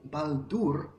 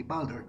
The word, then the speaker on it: Baldur: because in Polish pronunciation, in accordance with a Polish pronunciation, you would just say Baldur, as it's written. But I think it's English. In English, it would be Baldur. So Baldur is a Norse god,